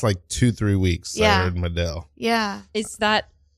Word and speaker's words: Medel: I heard Medel. Yeah. Is that Medel? Medel. It's Medel. Medel. That's beautiful. Medel. Also, I'm just taking it.